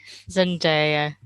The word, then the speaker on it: Zendaya: Zendaya. Zendaya. I might need to. It's I can Zen Day. Zen Ah, Di. Zendaya. So it's like Zen Princess Diana.